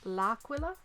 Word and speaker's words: L'Aquila: I cannot pronounce it. It's Aquila. That is Aquila. That is where the bishop's from. But it's L'Aquila. L, comma, Aquila.